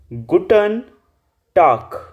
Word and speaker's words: Guten Tag: good day यू से गुटन टाक गुटन टाक जैसे जिस भी वर्ड के लास्ट में जी आ रहा होता है ना तो आप उसको कै प्रोनाउंस करते हैं कै कबूतर और इंग्लिश वाला के तो आप इसको क्या बोलेंगे गुटन टाक टाक के की साउंड आनी चाहिए नेक्स्ट है गुड इवनिंग